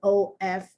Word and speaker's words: of: the v is concerned think about how you say o f versus how you say o f f o f is of not f of it's o v even though it's written with an f is of and think